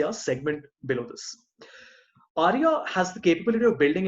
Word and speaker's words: Arria: This is a custom visual called Aria, which is spelled Arria.